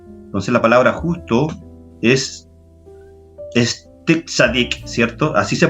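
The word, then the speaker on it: צדיק: Entonces la palabra justo es tzadik, ¿cierto? Así se pronuncia, ¿ya?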